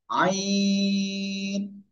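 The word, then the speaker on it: عين: উচ্চারণ করবো কয় আলিফ চার আলিফ আমরা টেনে উচ্চারণ আইন জাস্ট একটুখানি দেখেন হালকা একটু বাঁক হবে আইন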